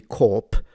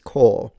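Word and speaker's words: corps: This would be core but I'm also fascinated that this co p which shouldn't be corp it's core.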